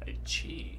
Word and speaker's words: Qi: Chi. Did not know that's how you pronounce that.